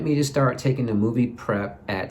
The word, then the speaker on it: MoviPrep: So the laxative, now I took something called Movie Prep, and that's spelled MOVIPREP, Movie Prep.